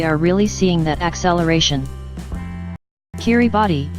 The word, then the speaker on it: Kiribati: Kiribati, pronounced Kirabas by locals, has an average elevation of just 6 feet above sea level.